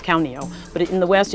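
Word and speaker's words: ข้าวเหนียว: Khao nio.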